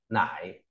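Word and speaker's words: 乃: Rồi, tiếp theo là có từ nải, nghĩa là quả là, đọc là nải.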